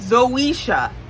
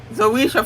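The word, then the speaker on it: Zoeysha: was black even though Zoe's name is zisha and it's spelled z o e y s h a zisha Franklin that is the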